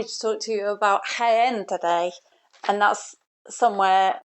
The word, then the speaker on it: Jaén: I'm happy to talk to you about Jaén today. And that's somewhere that is spelled Jaen, even though it sounds like it's with an H.